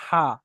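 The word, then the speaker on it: ح: ছোট হা বলা হয় এর উচ্চারণটা মুখের বাইরে থেকে হয় হালকাভাবে আর এটা গলার ভিতর থেকে হা আলহামদুলিল্লাহি রাব্বিল আলামিন তো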